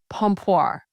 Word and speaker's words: pompoir: So today we're talking about uh vaginal gymnastics and it's called pompir.